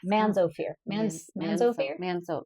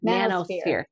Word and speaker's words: manosphere: Yeah, mansosphere. Mansosphere, I think it is was. how you say it? Sphere. Okay, so I watched this. Manosphere. There you go. I was like, that doesn't sound right.